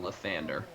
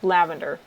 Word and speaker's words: Lathander: Yeah, they're specifically green and gold, which are the 2 colors of his god, Lavander, who is definitely a different god than Lathander. Definitely different. And definitely not pronounced lavender.